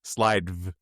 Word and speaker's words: Slidev: So, it's like slides slidev, but it's it's it's spelled sli.dev.